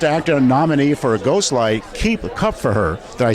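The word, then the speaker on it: Kupferer: We're here with the Best Actor nominee for Ghostlight, Keep Cup for Her.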